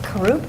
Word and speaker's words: Karoub: Is it Karoub? Is that how you say it? Okay. Karoub.